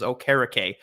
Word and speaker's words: Okereke: We recognize, disclaimer, we recognize we're wrong, and his proper pronunciation is Okereke, but we're going to say Okereke because it's funner to say. We like it better and we're more comfortable with it.